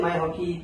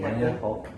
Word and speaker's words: Maya Hawke: I appreciate Maya Hockey played anxiety and other Stranger Things. Maya Hawke.